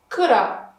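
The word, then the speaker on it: كرة: Kura, muslima. In bait, we pronounce the taa, bait. But in kura and muslima, it's just like ha.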